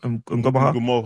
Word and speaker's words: Ngumoha: Because obviously, what Rio, as you guys have mentioned, Ngoma, is it Ngumoha? Ngumoha. I'll let you pronounce it.